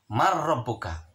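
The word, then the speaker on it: مَنْ رَبُّكَ: Dibacanya harus jelas, tidak berdengung. Tulisannya adalah man rabbuka, dibacanya adalah harus man rabbuka.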